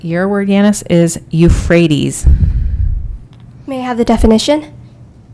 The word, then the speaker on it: Euphrates: river system created by the tigris and the euphrates rivers is considered one of the main cradles of human civilization is there other pronunciations there is no alternate pronunciation can you